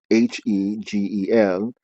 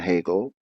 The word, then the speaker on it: Hegel: to hot gel which the h e g e l uh the e the ease and hegel are pronounced as a's if they were pronounced in their latin way and is a blessed